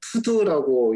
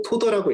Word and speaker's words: TODO: 그 TODO라고 해가지고 투두라고 읽으시는 분들이 많아요. 근데 저는 그 토도라고 읽고요.